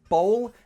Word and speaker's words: bowl: this is easier simply for this word ball for the vowel sound nothing changes it's one flat sound this one however the vowel sound has two sounds in it and you can see it change in the mouth shape let me show you